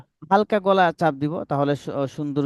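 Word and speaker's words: سين: হচ্ছে আমাদের, সিন, জি সিটি আওয়াজটা আমরা যখন আমাদের যখন প্রেসার কুকার ব্যবহার করা হয় বাসাতে, তখন একটা আওয়াজ দেয়, সিটি দেয়, ওরকম কিছুটা আওয়াজ হবে। সিন, আগে শব্দ হবে, পরে হরফটা উচ্চারণ হবে। সিন, হুম। আগে আওয়াজটা হবে, সিন, তারপর উচ্চারণটা হবে।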